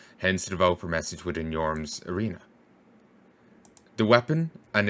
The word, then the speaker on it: Yhorm: The spelling Yhorm may help with the pronunciation, as the letter J is usually pronounced in Old Norse as a Y.